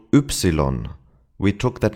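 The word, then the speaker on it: Ypsilon: This letter is interesting because first of all, it's called oopsilon.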